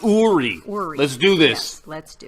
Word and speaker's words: Uri: let's go okay nori Ori is pronounced Ori let's do this let's